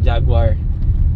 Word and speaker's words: Jaguar: some humps yeah guys jaguar good car it rhymes with a